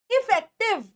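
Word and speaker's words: effective: This word is इफेक्टिव, इफेक्टिव कैसे बोलोगे? इफेक्टिव, इफेक्टिव, आई छोटा है, इफेक्टिव, ये लिख लेना अपने पास, इनकी प्रोनाउंसिएशन, ये दिन पर दिन यूज किए जाने वाले वर्ड्स हैं।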